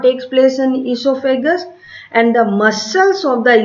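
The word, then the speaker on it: oesophagus: Spelling starts from O-E-S-O-P-H-A-G-U-S, but we pronounce esophagus, or commonly called the food pipe.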